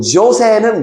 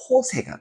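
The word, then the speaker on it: José: 그러면 우리가 이 친구 이름도 조세는 미국식 발음, 남미 친구 이름 그대로 호세가 되는 겁니다.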